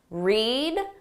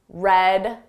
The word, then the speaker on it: read: Notice the spelling is exactly the same but the pronunciation changes. Reed. Red.